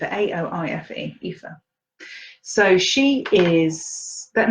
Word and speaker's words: Aoife: It's the name, my daughter's name is Aoife, A-O-I-F-E, Aoife.